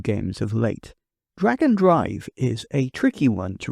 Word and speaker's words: Drag x Drive: Some people would say that it should be pronounced Drag Drive, with the X being silent, like it is in some anime, or the recently announced